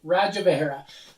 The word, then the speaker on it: Rajavihara: fun in five today i have relics of radja vegera i had to read it so i pronounce it right rajavahera this is a game that was brought to